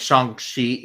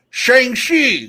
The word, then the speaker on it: Shang-Chi: somewhere right in between it's like shang shi like i think it's more of an sh but like you kind of swallow the h a little bit to get the pronunciation right so i think brad's